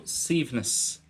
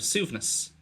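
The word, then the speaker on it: suaimhneas: is flexibility, and also síomhnas, which is just a different pronunciation of súvnas.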